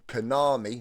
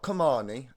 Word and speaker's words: Kanami: We've obviously just done Kanami, not Kamani.